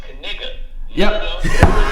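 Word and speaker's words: Knigga: And so we Googled it and we found out that it's pronounced Kiga.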